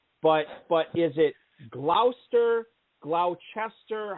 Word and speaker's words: Gloucester: mispronouncing it jeff but but is it gloucester glauchester how do you pronounce that city up there in massachusetts that's gloucester gloucester am i saying it right all right